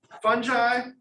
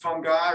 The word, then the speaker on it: fungi: Kingdom fungi, also pronounced fungi or even fungi. All those are good pronunciations of this.